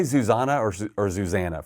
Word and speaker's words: Zuzana: funny do you say Suzanna or or zuzanna first of all it's zuzanna Zanna but I am guilty of doing the other way if I think it's just easier for the other person what is your husband